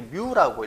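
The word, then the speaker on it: μ: 여기에 모집단에서는 모집단의 평균을 이렇게 뮤라고 읽습니다. 뮤도 아니고 뮤.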